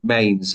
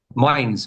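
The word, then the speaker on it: Mainz: one it's m sorry you told me how to say this properly Mains how how did you say it Mains mines mines yeah like hindes beans I have to remember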